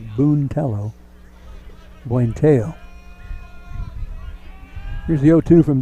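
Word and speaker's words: Buentello: strike on one to buenteo swinging them in fooling with the speed on that 102. puente is spelled b-u-e-n-t-e-l-l-o looks like boontello buenteo here's the o2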